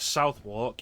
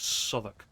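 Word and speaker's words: Southwark: You don't you don't pronounce that as Southwalk. It's Socr.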